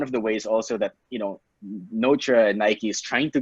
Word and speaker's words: Notre: Yeah, so we asked last night how they pronounce their name. So it's like Notre. Just to be sure. Just to be sure, just so we're not bringing it. It's Notre. Thank God they replied.